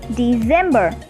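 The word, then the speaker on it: Dezember: November is also same as in English, which is November, and December in German is December. C replaced with Z.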